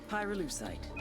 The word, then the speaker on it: pyrolusite: Pyrolusite, key syllable pyro, by the way, is the shit they mine in Villa Verde province to turn coca leaves into high-quality cocaine.